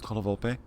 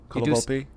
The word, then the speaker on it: Colavolpe: Do you pronounce the last E as an A sound or an E sound? Colavolpe? Colavolpe? I do both, actually. Oh, really?